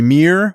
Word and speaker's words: Mir: So, the Mir 1 and 2, MIR. That's how it's said. Like the Russian space station? Mir? Yes, I think Yes. I think it's the same.